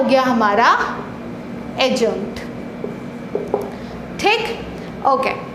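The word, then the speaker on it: adjunct: ठीक, एडजंक्ट नहीं होगा वो, एडजंक्ट, क्योंकि ए और जे के बीच वाला जो डी होता है वो क्या होता है, साइलेंट होता है।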